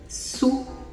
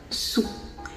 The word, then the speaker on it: su: l'eau qui se dit sous ça s'écrit s U et ça se prononce sous vous avez également l'eau